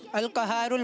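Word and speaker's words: القهار: الغفار अल कहारुल वहाबुल रज़ाक। क्योंकि ये अरबी वर्ड्स हैं तो इनकी प्रोनाउंसिएशन अरबी वर्ड्स के मुताबिक की जाएगी, ठीक है।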